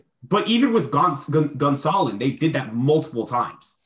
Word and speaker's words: Gonsolin: They did it with Gonsolin. So did I pronounce it wrong there, or did I get it right?